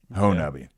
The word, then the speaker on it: Honobia: The name of the community is pronounced locally Honobia. Honobia.